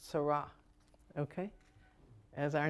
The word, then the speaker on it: Sara: sin ra and it's pronounced sarah okay as our names are so out